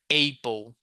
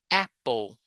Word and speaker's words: apple: There's always that Brazilian student learning English who says April. No, please never say April. April doesn't exist. Apple teacher, but I say table. A bc a table. Yeah. Okay. Table. But you don't say apple. You say apple.